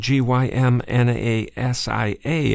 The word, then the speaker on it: gymnasia: of gumasa it's spelled g y m n a s i a and we would say that is gymnasia it's where we get the word gymnasium so I saying look this